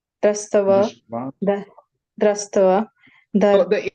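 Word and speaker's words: दृष्ट्वा: Atha vyavasthitan drastava Drishtva. drastava. So the A, if there's a dash over it, becomes A. Okay. Yeah. Atha vyavasthitan drishtva.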